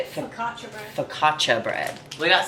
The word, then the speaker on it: Focaccia: Focaccia bread.